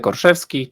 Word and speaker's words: Orszewski: Is that how I should pronounce the name? Yes, exactly. Orchi. That's my name. or Zevski.